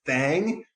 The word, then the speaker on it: Faang: Lost Boys Fang, but Fang is spelled Faang.